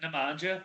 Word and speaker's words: Nemanja: much nothing, and they got how do you pronounce his name, Drew? It's like Bielitsa, Nemanja.